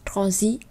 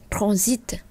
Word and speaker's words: transit: Chúng ta không đọc là fiat, magnificat, granit, déficit, transit, mais on doit prononcer le it et at, it.